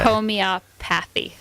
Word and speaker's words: homeopathy: as Homeopathy Homeopathy okay Homeopathy basically okay it's like photography but not quite so it's home Homeopathy